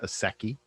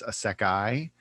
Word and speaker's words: isekai: I think they're pronounced, for years I pronounced it a seki, and I which I believe it. like. I Yeah, think it sounds cool. yeah, but I believe it's a sekai.